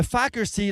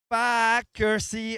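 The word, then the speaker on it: Faaker See: starting line slowly taking shape, and on the Fackersee Lake. So if you're joining us now, I'm gonna say Fackersee a lot, and I'm not cursing, so don't turn off your YouTube live stream.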